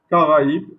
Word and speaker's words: Caraïbes: Donc il divise la tonalité ou la sonnerie du mot.